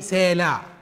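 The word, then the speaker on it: סלע: جت في ملوك الثاني 14، الكلمة دي بالتشكيل ده العين تتنطق، رغم انها موجودة في الكلمة الاولى بس كانت سايلنت، فمننطقها ايه؟ سالع.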